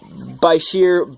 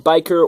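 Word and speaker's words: bichir: My lace Cenodonis catfish, my Bashir, Biker, or Bitcher, however you want to pronounce it. I pronounce it Bashir normally, poking his head out there.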